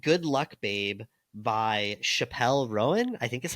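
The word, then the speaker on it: Chappell Roan: And I sent them a song called Good Luck Babe by Chappelle Rowan. I think is how you say the name. Chapel Roan.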